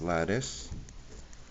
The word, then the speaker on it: lattice: I'm going to show you a second strategy called lattice. sounds like lettuce but it's pronounced lattice.